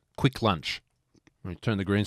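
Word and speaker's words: Kvikk Lunsj: So, it's basically like Kit Kats, but it's and it's not pronounced Kavik Lans. It's just quick lunch.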